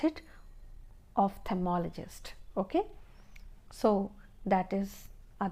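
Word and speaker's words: ophthalmologist: So in general way or in common terms we say eye specialist but the exact name of his profession is ofthalmologist again I'll pronounce it ofthmologist okay so that is a doctor who specializes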